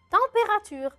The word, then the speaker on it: température: Le E à la fin, je ne le prononce pas trop. Je ne vais pas le dire. La température.